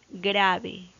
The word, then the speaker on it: grave: Grave, grave, grave. La sílaba tónica está en gra y su acento es prosódico, no se ve.